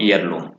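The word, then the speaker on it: heirloom: Honest में भी same यही बात कि एन ऑनेस्ट मैन, और ईयर, ईयरेस, ऑनरेबल और ईयरलूम। तो ये साइलेंट रहता है इनमें एच, तो इन वर्ड्स को आपको ध्यान रखना है।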